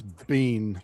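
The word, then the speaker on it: Biehn: He's like, "I interesting because that name in Scotland is pronounced Bean."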